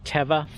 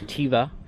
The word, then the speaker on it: Teva: to say is that it's pronounced teva not tiva it's thule not fool and it's arc terrix not whatever bastardization of that strange name you've decided to come up with teva is actually hebrew for